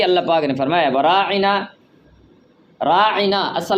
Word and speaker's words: راعنا: پاک نے فرمایا وراعنا، راعنا اصل لفظ ہے راعنا، اس کو پڑھتے تھے راعینا، راعینا اس کا معنی اور ہے، تو راعنا کا معنی